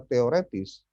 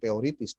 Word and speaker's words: teoretis: dan pengucapan yang benar bukan teoritis, tapi teoretis. Karena berasal dari kata bahasa Perancis.